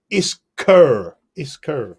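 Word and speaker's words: Iskur: In our comments we've got a pronunciation. Which is Isker, we've been told.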